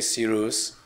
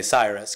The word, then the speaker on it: Cyrus: Right, so if I'm speaking Farsi, then you would say Cyrus, you know, and if you're, you know, if I'm speaking English, I would say Cyrus, because that's the English language pronunciation, you know, just like